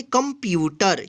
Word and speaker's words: कंप्यूटर: यहाँ पे देखिए क आधा म यानी ये बिंदी है ना, इसको हम आधा म उच्चारण करेंगे, आधा प यू ट र, इसको पढ़ेंगे कंप्यूटर।